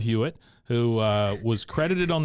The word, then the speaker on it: Hewitt: a couple other shows Jennifer Love huitt uh guess I need to say her name right Jennifer Love hwit who uh was credit